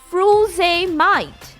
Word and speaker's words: frusemide: with a different spelling, so it sounds as frusemide. Okay, Frusemide, while in USA it is Furosemide. So the spelling is changed and the pronunciation changes.